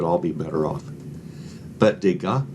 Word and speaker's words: Degas: So I named this Degas $2. A lot of these artists, the letters of their last names, you never pronounce them.